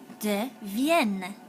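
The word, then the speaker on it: deviens: all right the answer de vien is how we pronounce it all right excellent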